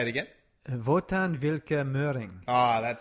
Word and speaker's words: Wotan Wilke Möhring: Wotan Wilke Möhring. Ah, that sounds good. Just rolling off your tongue. The W's are all V's. And the E's at the end of the words are pronounced usually.